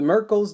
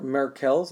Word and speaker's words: Merkel: alert you that you have socks on the Merkel's disk or marquel's as some people also pronounce respond to gradual pressure and so we